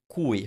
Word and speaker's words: cui: so very difficult word cui first of all sometimes this mispronounced because you make you some people make it sound like qui now qui it's spelt